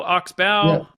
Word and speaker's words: Oxbow: you Alan glad to be here am I pronouncing that correctly is it Oxbow Oxbow many years ago I had property up in